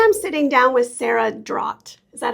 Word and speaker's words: Draht: Today I'm sitting down with Sarah Draht.